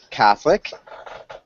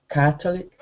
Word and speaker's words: Catholic: of those individual words couple small things Catholic Catholic post cathic Catholic Catholic good so that o yeah that always silent Catholic subscribed subscribe subscribe